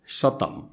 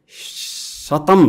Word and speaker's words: शतम: सय सङ्ख्या जनाउनका लागि एक खालका भाषा क उच्चारण गर्दो रहेछन्, कबाट सुरु हुँदो रहेछ, अर्को खालको भाषाहरूमा सबाट सुरु हुँदो रहेछ। जस्तै अनि सस्तो संस्कृतमा शतम भने सय भयो, अनि ल्याटिन भाषामा केन्तुम भनेको सय भयो।